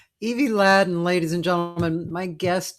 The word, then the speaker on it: Ladin: we go um sorry my last name is pronounced laden thank you laden evie laden yeah and uh